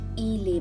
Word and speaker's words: il est: This is il, this is l, but when you add est, it becomes a bit different. Il est. There's a liaison there.